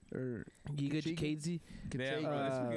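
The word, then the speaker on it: Giga Chikadze: Kachega or Giga Kachiga? Jikadze. Yeah, bro, Uh, we can say it properly. Giga Jikadze.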